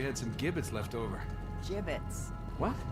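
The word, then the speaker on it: Jibbitz: Jibbits? What? It's pronounced gibbits.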